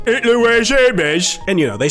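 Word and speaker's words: Hermès: Some people have debated whether the alliteration really works since the H in Hermes is silent. One smart Redditor pointed out that it might work if you pronounce it like a British person. "Hitler Wears Hermes."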